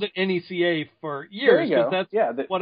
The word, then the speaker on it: NECA: It's NECA. I got to pronounce everything right because I'm on a podcast. Or Nika or NECA. I say Nika. Yeah. So I got to say NECA.